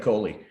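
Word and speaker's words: collie: a city boy when you pronounce it border column instead of coley you know that kind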